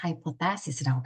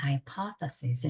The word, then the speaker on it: hypothesis: 막 하는데 가설이라는 이 중요한 단어를 제가 계속해서 hypothesis라고 발음을 한 거예요. 얼마나 어색하고 이상했을까요? 그래서 친절한 교수님께서 발표가 끝나고 거기다 피드백을 주시면서 이거는 이렇게 발음하면 안 된다. 굉장히 어색하다라고 알려주시면서 hypothesis 이렇게 발음해야 된다는 것을 피드백으로 남겨주셨습니다.